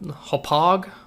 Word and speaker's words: Hauppauge: So I ordered the PVR, DVR, whatever it's called, Hauppauge. The Hauppauge HD PVR. Hauppauge rhymes with fromage.